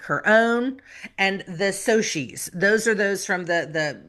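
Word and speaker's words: Socs: So say for the for the movie and for the musical, it's pronounced soches.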